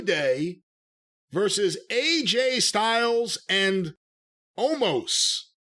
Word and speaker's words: Omos: versus AJ Styles and Omos. Amos is going to wrestle? Omos. Edward James Omos. He's almost going to wrestle? I think that's how you pronounce it, O-M-O-S.